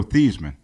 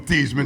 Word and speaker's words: Theismann: He changed his name from Theismann to Theismann to rhyme with Heisman.